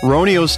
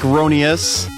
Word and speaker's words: Roniu's: into let's look at the modern retro game ronio's tale and see if we can answer that question yeah i know it looks like rhony s but apparently it's pronounced ronios more on that